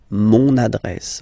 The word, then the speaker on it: mon adresse: Same thing, you will have to use adjectif possessif masculin, mon adresse, my address, mon adresse, okay? You can hear now this little link, so you've got to pronounce this N, mon adresse, okay?